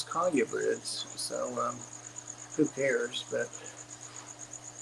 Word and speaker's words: colubrid: Breads and I know some people pronounce that collubrids but I actually went on the sites where you can have the pronunciation said to you and it is Collier birds so um who cares